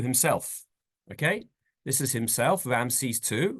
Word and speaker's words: Ramesses: Okay, this is himself, Ramses II. Ramesses, we pronounce him, and you can see he's got a mighty hand and an outstretched arm.